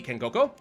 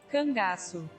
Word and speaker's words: Cangaço: Anyway, that takes care of another round of the Kengoko.